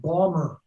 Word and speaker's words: Baltimore: now you're originally from baltimore correct it's pronounced bomber i like that and